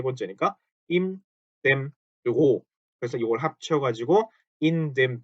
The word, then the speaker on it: Büro: 이것도 우 umlaut는 으죠. 자, 위하고 달라요. 위라고 발음하면 우 다음에 이가 되면서 입이 벌어지죠. 위 이렇게 이하고 벌어지잖아요. 근데 그게 아니라 입 모양은 그대로 둬야 되기 때문에 우 다음에 으, 이렇게 됩니다.